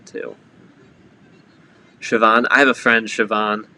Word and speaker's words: Siobhan: then they hear like oh it's siobhan and they're like oh that's a that's an amazing name huh where'd the bee come from yep yep here we